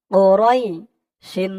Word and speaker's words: قريش: এখানে অক্ফ আছে, থামার কারণে ওরইশ, রয় বলে একালিফ টান দিয়ে শিনকে ধরবে। শিনের নিচে দুই জের টানবেন, এটা সাকিন হয়ে যাবে। এই একালিফ টানের নাম হচ্ছে মদ্দে লিন। ওরইশ, ওরইশ।